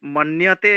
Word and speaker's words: মন্যতে: আর মন্যতে এই এই ওই জফলাগুলো ইয়তে উচ্চারণটা একটু করবেন, মান্যতে, তাহলে আরো ভালো হবে।